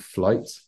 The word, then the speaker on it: Flyte: by a band called Flight, who are based in the UK. I don't know if you've heard of them. I haven't. I'm gonna look them up. Yeah, so it's spelled FLYTE.